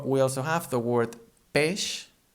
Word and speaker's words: peix: When we have these two letters together, be it at the end or in the middle of a word, it becomes a sh sound, like in she, for example.